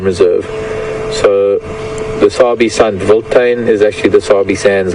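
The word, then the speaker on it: Wildtuin: African word mentioned uh the word is voltain which is the way it's pronounced but it's it's written if I had to say phonetically willd wild t-u-i-n-tina vote is directly translated to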